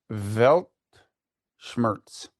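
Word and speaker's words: Weltschmerz: Um uh oh it's pronounced uh Velt Schmz W E LT Smadness over the evils of the world especially as an expression of romantic pessimism.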